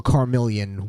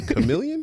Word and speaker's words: chameleon: That's why I learned how to pronunciate. You know what I mean? I'm more of a carillion with my Is that how you say it? Carmelon. Chameleon.